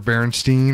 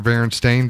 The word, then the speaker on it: Berenstain: that they would emerge gloss over the word Berenstein or Berenstain Bear they it's just it's something that's such a different pronunciation I I don't gloss over a difference I guess between a an in and an Ain I'm sorry I'm kicking